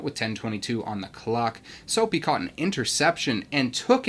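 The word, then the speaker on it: Soppe: Also, I know that it's spelled S-O-P-P-E, but that's the That's the positive part about sitting near the parents, is that they say the names right.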